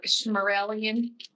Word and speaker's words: Shmarelian: Because there was an imposter in charge of the safety of Yodon, if you recall, or Shmarelian. His name rhymes with Smarellian.